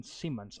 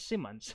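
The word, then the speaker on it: Simmonds: and also michelle and elisha siemens ah sorry i mispronounced it it's simmons who play reagan was actually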